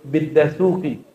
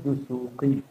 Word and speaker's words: Dusuki: Contoh dia nyebut biddasuki itu orang Padang tuh. Buasuki yang tepat adalah Bid Dusuki, Imam Dusuki ya.